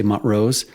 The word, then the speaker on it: Montrose: uray tourists say uray Old-Timers say Mont Rose later arrivals say Montrose people not from here